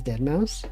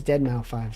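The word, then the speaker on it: deadmau5: actually in my head I've I've never pronounced his name as Dead Mouse I did not even know like I always whenever I see it I always pronounce a five it's always dead now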